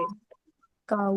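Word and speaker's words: Bakau: अब ये जैसे मैंने कहा है कि इसको आ पढ़ना है, तो इसको कैसे पढ़ेंगे? बकाऊ।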